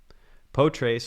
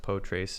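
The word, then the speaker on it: Potrace: on github apparently poetry poe trace or yeah i think it's pronounced poe trace is actually what uh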